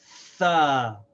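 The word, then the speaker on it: ث: So this is like the TH in the words think, thought, thorough, and so on. The sound is th, and the letter name is Tha.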